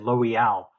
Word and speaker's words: Loial: Well, I mean, Loyal is how it is phonetically if you take their placement of the apostrophe, isn't it?